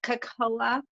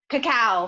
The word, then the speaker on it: cacao: have a question okay so what is that Cocola I'm not saying it right what does it do cacao thank you chocolate really it's it's the it's